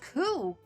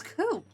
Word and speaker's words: coup: Oh, it's pronounced coup. I thought it was cool.